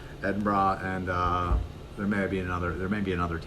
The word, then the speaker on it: Edinburgh: Manchester Oxford Nottingham Birmingham Edinburgh learned I was pronouncing that wrong ed bra and there may be